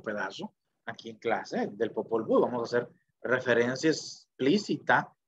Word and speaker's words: Popol Vuh: Bueno, debería ser con W, pero Popol Vuh, pero aquí se pronuncia el Popol Vuh.